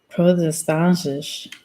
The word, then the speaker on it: protestantisch: Protestantisch.